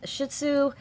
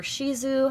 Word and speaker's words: Shih Tzu: I just picked out the picture that I liked the best, and it was this Shih Tzu, or Shizu, however you like to pronounce it.